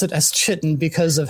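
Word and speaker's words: chitin: It is uh later described as uh Chitten or Kitan. Whichever one it's pronounced, I don't remember. Kitan. Yeah. Matt Mercer. I have always pronounced it as Chitten because of how I read it in World of Warcraft.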